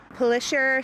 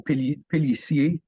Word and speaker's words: Pélissier: Pelisher Street. Okay, so the ER at the end of a word in French is pronounced A. So Pélissier. Why they make a sh sound instead of the S sound, I think it just gets kind of assimilated.